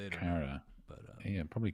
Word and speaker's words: Cara: Cara. But yeah, probably Cara to be fair. Yeah, everyone's running to Cara. That's the Irish pronunciation, and I'm going to stick with it.